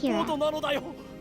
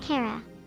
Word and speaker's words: Kira: First of all, my name is Kira. Kira, not Cara.